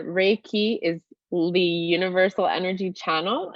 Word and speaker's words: Reiki: aware yeah so ricky and you can pronounce it a bunch of different ways but sometimes i pair it together as the two parts of the word so re meaning universal and key meaning energy and reiki is the universal